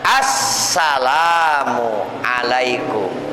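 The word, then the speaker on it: السلام عليكم: di atas huruf Sin berarti bacanya Bagaimana Assalamualaikum sinnya ditebalkan Assalamualaikum nabiahu Alaihi was bersabda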